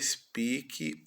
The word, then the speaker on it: speak: You speak. Você fala o inglês bem. You speak English well. Então, o verbo falar speak. O e o A com son de I. Speak.